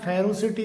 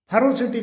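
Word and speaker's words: ferocity: Feminine इसी प्रकार से एफ ई आर ओ सी आई टी वाई इसे कई बार फेरोसिटी करके बोला जाता है। जबकि इसका सही जो प्रोनंसिएशन होता है फेरोसिटी फेरोसिटी करके होता है।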